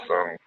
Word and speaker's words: awe.sm: Unfortunately, we don't support, we support awe.sm, I think that's called, pronounced awesome, but that's the only other link shortener we support at this time.